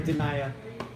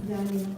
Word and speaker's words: Danya: So my name is Danya, and it's never pronounced correctly. Like, even by my friends. So, Say Denaya. yeah. Diana, Danya, Dania, Dania, it's Danya.